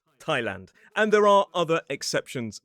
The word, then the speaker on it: Thailand: in some dictionaries it does say you can pronounce it as Thailand. Personally, I say Thailand.